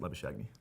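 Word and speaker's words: Labuschagne: tester booze lavish Amy it's pronounced leather shaggy I'm pretty sure Marcus lavish agony in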